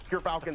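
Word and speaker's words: Gyrfalcon's: But Gerfalcons, everyone, so anyone who mispronounces it, that's how you say it.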